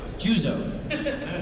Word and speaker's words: Juzo: I always say Max White's character's name wrong. Juzo.